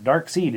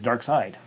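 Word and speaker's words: Darkseid: DC in Germany is pronounced as a long i as in pie fly die and cry so dark seed is dark side Naha the more you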